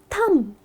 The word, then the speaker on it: thumb: Next one Thumb, so many people pronounce it as Thumb, Thumbs Up. It’s not Thumbs up. It’s just Thumb.